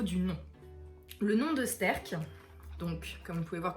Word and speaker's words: STÆRK: a été pris avec le terme sterk et justement c'est quelque chose qui sonne relativement bien que tout le monde peut prendre sterk voilà et qui peut se prononcer en fait directement toutes les langues et comme les pays